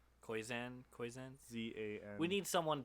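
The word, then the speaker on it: Koyczan: words as much as how do you say his name? Shane Kozan? Yeah, Kozan. That's the part I wanted to say. I don't know. It's Koyzan.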